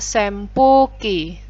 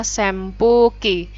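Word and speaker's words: 扇風機: lagi yang kipas itu bahasa Jepangnya Sempu Ki tulisannya senpuuki Tapi bacanya Sempu Ki cenderung ke m ya Sempu Ki Hai baik berikutnya kita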